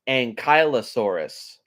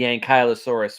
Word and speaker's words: Ankylosaurus: at number 19 is I have heard this be pronounced quite a few ways but I'm pretty sure it's pronounced ankylosaurus or uh mean name meaning